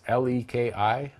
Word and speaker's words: Leki: I use Leaky or Lecky. I'm not sure how you pronounce it. It's Leki.